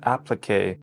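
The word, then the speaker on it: appliqué: Okay, so the correct pronunciation is applique.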